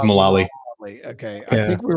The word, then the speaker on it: Mullally: Is it Malay? How do you pronounce the last name? I feel like I'm getting the last It's Mullally. It's just Mullally.